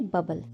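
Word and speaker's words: bobble: बोलते हैं बबल बबल इसकी स्पेलिंग होती है बी ओ डबल बी एल ई लेकिन इसका प्रोनाउंस होता है बबल यहां ओ साइलेंट होता है अब देखो मैंने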